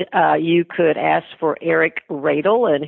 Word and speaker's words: Radle: You could ask for Eric Radle, and his name is spelled like Ladle, R-A-D-L-E.